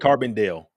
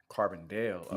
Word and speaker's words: Carbondale: Carbondale. Carbondale.